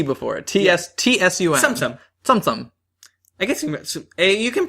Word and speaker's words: Tsum Tsum: like AUM with a little T before it TS Tsum Tsum gu you can pronounce it whatever I go anyway this game